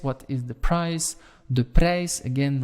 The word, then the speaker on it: prijs: De prijs, again, remember that I and that J, pronounce it as an English A, right?